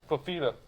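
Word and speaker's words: Fifita: Fafita.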